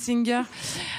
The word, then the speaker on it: Oesinger: Merci beaucoup, Singer.